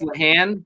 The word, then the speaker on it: Lahan: No, I'm pretty sure it's supposed to be pronounced Lahan, but we say it Lajuan and we mess up every time.